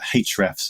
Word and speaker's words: Ahrefs: in animals two years ago you've since joined HRS is that how you pronounce it HRS it's up to you really but uh H refs is the internal company pronunciation uh refs so you're director of content